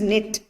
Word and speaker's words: knit: Next is knit. So K is silent.